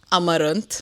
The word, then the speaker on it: amaranth: Nigel said you can pronounce it as Amarkanth. Amaranth. Red amaranth.